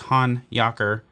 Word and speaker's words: Honyocker: around saying hanyaker hanayaker i've seen the name heard the name butchered a million different times by a bunch of different people but rest assured it is han yakur and uh we're gonna